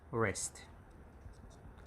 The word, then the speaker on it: wrist: they are put together w is always silenced and it's rest like that and there are terms